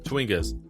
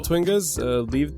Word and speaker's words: Chwinga: Chwingas. Chwingas. Well, little, Twingas, Chwingas. Chwinga. well, little Twingas, lead the way. Again, you're saying Twingas. Wait, what? Ch. Like Chwinga.